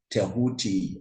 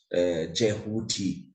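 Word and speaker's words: Djehuty: Egyptian cosmology called tahuti the hellenized version of the name touti is Toth um but the the the ACT ual the actual pronunciation is tahti or or the variant jeti um this was the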